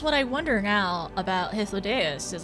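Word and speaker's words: Hythlodaeus: Hythlodeus.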